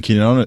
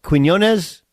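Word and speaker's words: Quiñones: Yeah. Quinones? It's like guacamole, stuff like that.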